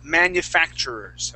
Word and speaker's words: manufacturers: that uh that t that t sound that's in the middle of that word Edson it's going to sound more like a CH okay so we would actually pronounce the word manufacturers manufacturers manufacturers yeah and that that R we'd kind of bounce off off off that manufacturers manufactur good nice job